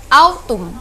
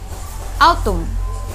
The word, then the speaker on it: autumn: panas kemudian musim yang ketiga Autumn Bagaimana cara bacanya Autumn Autumn Oke Autumn itu musim gugur jadi bunga-bunga itu